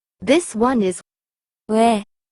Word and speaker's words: 왜: The last one is 왜, 왜. It is made by combining wu and a. So you have to pronounce wu and a in a row very quickly.